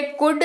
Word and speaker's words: could: अगला शब्द है कुड, COULD, कुड इसका इस्तेमाल होता है, उच्चारण कुड होता है लेकिन लिखा COULD जाता है।